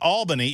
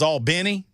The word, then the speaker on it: Albany: uh and uh the it wasn't Albany it was Al Benny yes and it wasn't